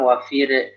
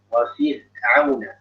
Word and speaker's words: وفرعون: Hati-hati orangnya jangan wafir, jangan mantul. Wafir auna, jangan wafir. وفرعون ذي الأوتاد. وفرعون ذي الأوتاد. Jadi wafir'aun. Dia kan namanya juga bainiyah ya, tidak terlalu ngalir, tidak terlalu tertahan. Jadi enggak wafir, tertahan, enggak wafir, enggak terlalu ngalir.